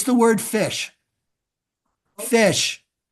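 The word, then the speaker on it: ghoti: no it's the word fish fish fish the GH as in tough the O as in woman and the ti as in action fish fish I don't you're going but that's not fish GH as in tough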